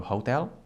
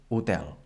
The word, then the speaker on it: hotel: So in English it has the H sound, like in hotel, but in Catalan, for example, we say hotel. So this letter, it doesn't sound in Catalan.